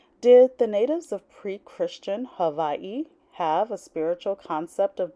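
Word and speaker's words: Havaiʻi: chapter 1 introduction did the Natives of pre-christian Havi have a spiritual concept of divinity in heaven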